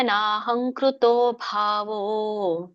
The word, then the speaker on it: ನಾಹಂಕೃತೋ: ಕೇಳಿಸಬೇಕು ಕೊನೆಗೆ ಯಸ್ಯ ನಹಂಕೃತೋ ನ ಹೇಳಿ ದೀರ್ಘ ಇದೆ ನಾಹಂ ಹಂ ಕೃತೋ ಹಂ ನೋಡಿ ಕ ಗಗಂ ಹ ಆದಮೇಲೆ ಅನುಸ್ವಾರ ಇದೆಯಲ್ಲ ಮುಂದೆ ಶಬ್ದ ಏನಿದೆ ಕ ಇದೆ ಕ ಕೆ ಏನ್ ಬಂತು ಕ ಗಂ ಬಂದಿದೆ ಹಾಗಾಗಿ ಅನುಸ್ವಾರ ಬರಬೇಕು ಅಲ್ಲಿ ಹಂ ಕೃತೋ ನಹಂಕೃತೋ ನೋಡಿ ಹಂಕೃತ ಅಂತ ಅಂತ ಹೇಳಿದ್ರೆ ತಪ್ಪು ಅಹಂಕೃತೋ ನಹಂಕೃತೋ ನಾಹಂಕೃತೋ ಆಟೋಮ್ಯಾಟಿಕ್ ಆಗಿ ಬಂದ್ಬಿಡುತ್ತೆ ಅದು ಉಚ್ಚಾರಣೆ ಹಂ ಬಟ್ ಕೆಲವೊಂದು ಕಡೆಗೆ